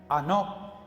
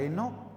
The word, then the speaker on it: Enoc: de allí y la palabra hebrea es anoc anoc no Enoc sino anoc se pronuncia en este en este campo la palabra en español que nosotros conocemos es esa Enoc Qué significa el nombre de Enoc Porque es